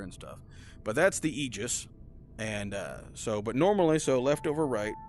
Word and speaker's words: Aegis: the campaign missions you can only use the Aegis which is how they pronounce in the game you can't use the